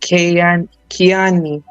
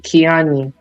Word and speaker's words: Kiani: Probably, but no, I pronounce it Kiani. We pronounce it differently. It's called Kiani.